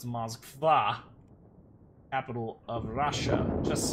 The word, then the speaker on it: Moskva: By the way, the emphasis on the last A, so it's Moskva.